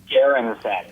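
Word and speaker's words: Gehren: How do you pronounce it? Garren.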